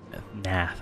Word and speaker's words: Gnath: Nath, I think, is what it is. I think I'm not supposed to pronounce the G.